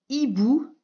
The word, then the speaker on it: hibou: Ici, nous avons un animal marin, un homard avec encore un H muet et un hibou avec aussi un H muet.